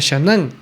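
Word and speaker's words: שנן: El verbo hebreo, repetirás, se pronuncia shanan y significa literalmente afilar profundamente.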